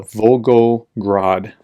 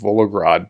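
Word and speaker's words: Volgograd: a fire at the vulgo grod I pronounce that right thank you for the comments um because I called it vrad before but vrad oil Refinery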